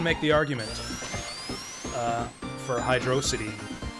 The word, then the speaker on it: Hydrocity: hydro city it's hydrocity we gotta emphasize the dro i haven't seen anyone make the argument uh for hydrocity also yeah to